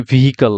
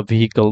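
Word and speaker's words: vehicle: এখানে আছে হলো ভিহল আমরা এখানে ভিহিকাল বলি ভিহিকল বা ভিকল বলি ভিহিকাল বলি আসলে এটা ভিহিকাল না এখানে দেখেন ভিল ভিল ভিল ভিকল অর্থাৎ হিটা বাদ চলে যাচ্ছে ভিকল ভিল এরপরে আমরা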